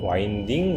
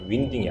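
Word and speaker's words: winding: 이걸 보고 뭐라고 부른다고 롱앤 와인딩 로드라고 합니다 윈딩이 아니고 그다음 번 이건 드라고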